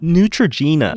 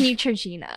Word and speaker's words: Neutrogena: crazy over that because she pronounced it Neutrogena yeah yeah here's Neutrogena yeah but everybody was like why does she have to pronounce it like that because she's American